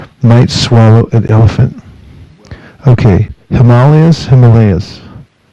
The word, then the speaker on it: Himalaya: So the Sanskrit is Himalaya, but the decision was to Standardize with the English pronunciation because everyone in English knows what Himalaya is.